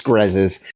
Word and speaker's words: Grezes: right I no it's no one gets it right the first time it's fine it's grezes it's a lot easier yeah grezes it's so